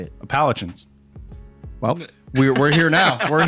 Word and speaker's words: Appalachians: Appalachians.